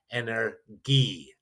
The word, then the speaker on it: Energie: And energy, while it's spelled very similar, is pronounced energie. Energie. So you have that extra hard G on that.